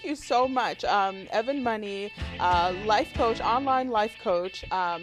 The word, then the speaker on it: Money: well you know what i like money because it's easy to spell it's easy to pronounce except when i go to the bank they call me mr mooney for all the people